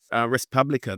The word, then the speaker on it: res publica: And I'll put this up for people, but Respublica, the public thing, that's the name of your Substack, correct? Yes. Oh, you actually the pronunciation in the Latin is with the U, it's "u," so it's res publica.